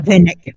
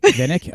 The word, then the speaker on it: VNYK: Um, yeah, I don't know if I'm pronouncing it properly, but uh, yeah. Um, VNYK or Vinnick, I guess. So, yeah, Vinnick. Vinnick.